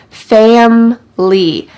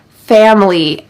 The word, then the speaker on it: family: him for 5 years family family notice the pronunciation here in fast English we drop the middle eye family family I love spending time with my family home